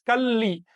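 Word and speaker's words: calli: No es Cali, ni menos Cali, no. Es Cali. Como se dice, el loco, el lápiz, es una L larga.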